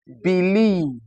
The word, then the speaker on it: believe: So if I have I E, I will have words like believe. The sound is here.